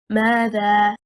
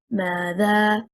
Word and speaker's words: ماذا: The word ماذا, stressing on the first حركة, حركة الميم, is one word. It is an interrogative noun. ماذا, meaning what. The incorrect performance, if we stress on the second حركة, حركة الذال, and we say ماذا, what will happen? We separate the word into two words.